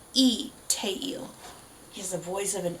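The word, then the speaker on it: Lee Taeil: name is it a it is a straight up vowel of just the e sound so even though it's written Lee teil it is pronounced e te he's the voice of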